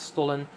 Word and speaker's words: Stollen: Like a stol, or in German it's stollen, which is like a